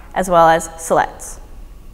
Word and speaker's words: Siletz: Confederated Tribes of select Indians there's five commonly mispronounced words MP no Fuu colloquia Willamette Grande Ronde as well as Siletz